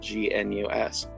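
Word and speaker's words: gnus: animals and says got news for you news is spelled g-n-u-s get it charlie brown walks away the comic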